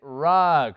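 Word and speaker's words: rug: en inglés se dice rock no se pronuncia no no no el sonido de la uv es parecido al de la a se dice rock y rock o como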